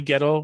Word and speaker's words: Gettle: Donnie Gettle, rhymes with metal, and Rob Borek.